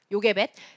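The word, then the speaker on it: יוכבד: 요케베드인데 발음하기로는 이 요케베드의 케베드가 요게벳, 케베드가 영광이란 뜻이에요.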